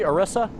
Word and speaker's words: Orisa: Orisa. Kind of like got a ram's... Yes, it's Orisa. Is that All right. pronounced correctly? Orisa?